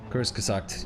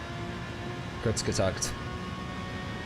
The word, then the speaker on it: Kurzgesagt: Pronunciation is more like Kurtz. Okay, good to know. Kurzgesagt.